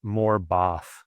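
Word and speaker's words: Morebath: Yeah, it's pronounced Morbath. So like instead of the Bath in American versus Bath in British.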